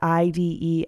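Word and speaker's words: -ide: that last syllable with the IDE ending pronounced ID and so these are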